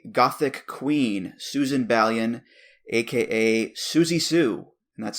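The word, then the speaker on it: Siouxsie Sioux: this is a Gothic Queen Susan balion AKA Suzy Sue and that's spelled s i o uux s i e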